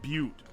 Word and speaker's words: Butte: Or I think it's pronounced Butte, I believe.